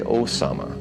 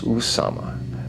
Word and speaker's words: Usama: properly spell his name they say Osama it is Usama u m a m